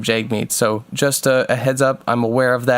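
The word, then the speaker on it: Jagmeet: over and over again I said jar meet instead of Jake meet so just a heads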